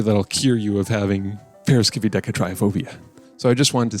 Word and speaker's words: Triskaidekaphobia: One thing that is tricky is the I right here is actually pronounced as a double E. But otherwise, it's not as intimidating as it looks if you just like break it down by syllable. Triskaidekaphobia.